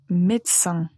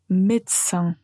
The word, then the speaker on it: médecin: La première qu'on a déjà mentionnée, c'est médecin. Médecin. Donc, quand vous voyez ce mot, il y a beaucoup plus de lettres que quand on le prononce, mais c'est juste comme ça.